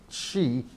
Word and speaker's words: Xi: President Xi, I've got to get my pronunciation right here. President Xi.